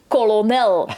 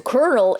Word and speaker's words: colonel: at the page and I see an L, but it's not supposed. Also, you're not supposed to also pronounce we it. say colonel, so to get from there to colonel, it's kind of trippy to get there.